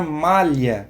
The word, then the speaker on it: malha: A palavra malha, para escrever essa palavra, eu preciso de 5 letras, M-A-L-H-A. Mas a pronúncia, eu só utilizo 4 fonemas.